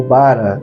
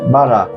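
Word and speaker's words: ברא: ver essa palavra criou no original significa bará ou bara de repente cada um às vezes muda um pouquinho a pronúncia mas o mais comum é bará então diz que no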